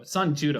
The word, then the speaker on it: Sanjuro: Is it Sanjuro or Sanshiro? Sanjuro. Sanjuro. Right? Yeah, Sanjuro. At least in English it's spelled Sanjuro for the Anyway, sequel.